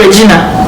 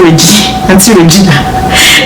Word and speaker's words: Regina: It's spelled Regina. In Africa, how will you call that? This is not Regina.